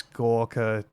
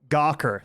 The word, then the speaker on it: Gawker: God, I miss Gorka. Oh yeah, sorry, we say it like that. Gawker is how Americans say it.